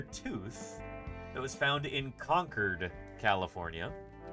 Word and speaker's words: Concord: This is a tapier tooth that was found in Conquered, California. Uh, not Concord. It's pronounced Conquered.